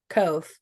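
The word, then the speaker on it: Kvothe: me and my dyslexia I'm just going to call him kof um because the V is silent um all right so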